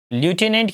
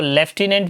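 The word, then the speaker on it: lieutenant: इसको लेफ्टिनेंट भी पढ़ा जाता है।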